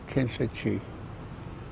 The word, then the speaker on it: Kinlichee: I was born north of Ganado, Arizona, a place called Kinchachi. What? How do you say it again? Kinchachi. Ah, Kinlichee.